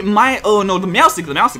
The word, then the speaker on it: Meowstic: Hydreigon, of course, the Meowstic, that's how you say his name.